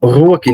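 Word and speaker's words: ruach: a palavra espírito né no hebraico que é pronunciada como Ruque né tem o fiel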